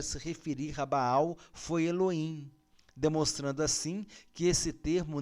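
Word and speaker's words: אלוהים: termo Helô Rema Vamos ler Elohim mas a pronúncia Elohim Elohim Lima Faremos agora uma breve recapitulação o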